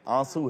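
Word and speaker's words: आँसू: आंसू का नून जो है वो साइलेंट, आंसू है वो। वाह। जैसे खांसी नहीं है, खांसी है।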